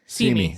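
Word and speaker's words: Simi: was going to do see me see see me but it's spelled like Sami yes s i m i okay got it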